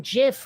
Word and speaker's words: GIF: grey wolf on there pronouncing jiff with a hard g is wrong it's incorrect it is literally factually incorrect if you do it